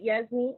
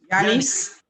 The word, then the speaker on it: Yanis: Was it Yasmin? What was his name again? Yanis. Yes.